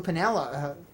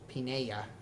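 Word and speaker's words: Piniella: still mess it up Lou Pinella that's not right that's not how it should be pronounced should be pinea so I would pronounce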